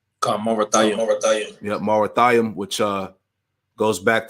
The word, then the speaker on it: Merathaim: That word is how you pronounce it? Marathaim, right? Marathaim.